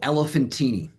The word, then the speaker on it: Elephantine: But there's a place called Elephantine. It's spelled like elephant, Elephantine, and it's an island in the very south of Egypt.